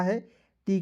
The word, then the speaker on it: hate: देखिए एच का लिखना है, ह लिखना है, टी का ट लिखना है और अंतिम में ई है तो एक एकले लगाएंगे, हो जाएगा हेट। HATE हेट हो जाएगा दोस्तों।